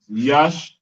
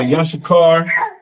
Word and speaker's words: Yashikar: All right, and Issachar or Yashikar in the Paleo is Ya, Sha, Sha, Ka, Ra. Yashikar. Ya, Sha, Shakar. The like it. The Yash is first, they connect. Shah is by itself. and Kar, it connects. Yash, Shakar. Yash, Shakar.